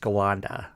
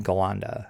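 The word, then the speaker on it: Ghallanda: pronounced and it's usually pronounced skalanda in which case the h is completely insignificant yeah exactly yeah that's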